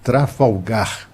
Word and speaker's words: Trafalgar: é o nome espanhol Tem muita gente que tenta tenta pronunciar esse nome como se fosse em inglês né mas é tratado folga Trafalgar é uma é uma península lá espanhola né que inclusive batendo